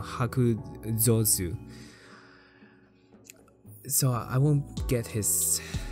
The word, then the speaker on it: Hakuzosu: And even if I do get another SSR unit, I guess the rate up for Hakuzoku. Oh shit, I've been saying his name wrong. Hakuzosu.